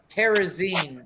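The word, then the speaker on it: Terezín: And if you look on the screen right now, it's making light into how do you say like Terezin, like magazine.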